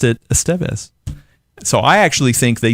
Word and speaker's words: Estevez: I was watching the Charlie Sheen documentary on Netflix, and he was talking about his family, which includes Emilio, and he pronounced it Estevez.